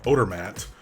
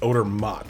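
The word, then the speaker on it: Odermatt: way he plays also i've been pronouncing our swiss winger's name as odor matt but it's actually odor mott so i will correct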